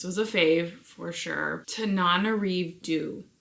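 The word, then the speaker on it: Tananarive Due: Tanana Du is how you say it if I understand correctly.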